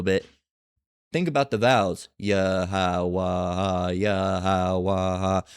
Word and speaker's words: Yahweh: Okay, Yahweh, which is not the correct pronunciation. It's Yahweh.